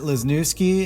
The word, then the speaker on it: Lesniewski: with Matt everybody we are here with Matt lesniewski am I pronouncing your last name correctly sir yes awesome